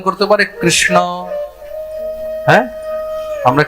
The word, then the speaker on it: কৃষ্ণ: তা সবাই শুদ্ধ উচ্চারণ করতে পারে কৃষ্ণ।